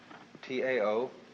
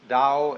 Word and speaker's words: Tao: So their principle of nature is called the Tao, T-A-O, pronounced Dao in the Mandarin dialect, Tao in the Shanghai dialect, To in the Cantonese dialect.